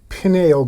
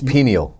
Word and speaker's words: pineal: No, I've been reading a lot about your pineal gland, I believe is how. It's pineal.